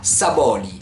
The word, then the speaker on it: Saboly: dès noël il s'appelle nicolas saboly voilà je me prononce à la provençale son nom s'écrit s ab haut elle y alors ce nicolas